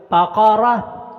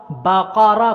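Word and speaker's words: بقرة: بقرہ، بقرہ کوئی حرف لمبا نہیں کرنا، مجہول نہیں پڑھنا، یہ ذہن میں رکھیے گا.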